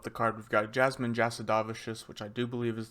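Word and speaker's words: Jasudavicius: early prelim up the card we've got Jasmine jadavious which I do believe is the correct pronunciation I heard her say it on Ariel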